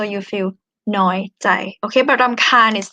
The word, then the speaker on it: รำคาญ: This one is trill R, okay? รำคาญ. For those of you who can read Thai script, รอเรือสระอำนะคะ คอควายสระอายอหญิง รำคาญ. You pronounce as นอหนู sound here. รำคาญ. รำคาญ. Okay. But in conversation, you might hear it as ลำคาญ, like ลอลิง sound or L sound, because we don't really pronounce R, like true R in Thai.